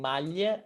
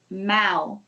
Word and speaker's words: mal: malia and mao so when we have l at the end of a word we don't pronounce the l we pronounce yes okay however in european portuguese they pronounce the l mal mal but in brazil we don't so we turn the l into a u sound okay so this video